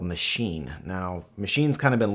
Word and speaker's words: Maschine: Maschine, spelled M-A-S-C-H-I-N-E, is actually pronounced Maschine, technically. It's the word for machine in German.